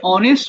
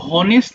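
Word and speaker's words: honest: ভিন্ন নিয়ম হওয়ার কারণ এই যে অনেস্ট উচ্চারণ করছো এটা কিন্তু হনেস্ট বলছো না তাই না যে কেন বলছো না হনেস্ট?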